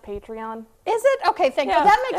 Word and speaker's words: Patreon: Is it pronounced Patron? It sounds like it's whenever I say that. It sounds like a tequila. Tequila. Yeah, it makes me think of tequila. But just look for her contact information as we talk to the awesome Kelly Mulry. Hi, Kelly. Hello. Do you create this while you're doing tequila shots? No, that's not the Patron. Actually, it's pronounced Patreon.